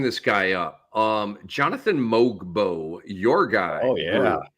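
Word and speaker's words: Mogbo: Um, Jonathan Moogbo, your guy. Oh, yeah. Mobo. Uh, Sunday 1711 and seven. Two blocks, two steels. Um, oh, so it's just mobo. The G is silent.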